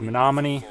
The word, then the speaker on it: Menominee: and this White House now I believe the proper pronunciation is Menominee let me know down